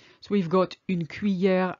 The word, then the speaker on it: cuillère: I know this is difficult to pronounce, but split it in two, cuit and then hier. Imagine the double L is a Y. I don't want to hear any L sound in there.